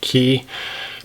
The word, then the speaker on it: Cay: boa types are called ke boas spelled c a y some people pronounce it K I think technically it's key but these two boas